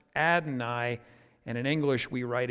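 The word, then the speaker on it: Adonai: word that that looks like yahweh and is pronounced adnai and in english we write it lord usually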